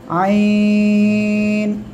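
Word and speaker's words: عين: কিংবা এক হাত দিয়ে হালকা একটু ধরেন এবার উচ্চারণ করেন আইন আইন আইন ঠিক আছে ওকে আশা করি ইনশাল্লাহ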